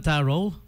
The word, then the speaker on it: tarot: Cinema 1, Tarot or Tarot. Some say tarot, some say taro. Silent T daw di ba? Usually, di ba? Pag T yung nasa dulo.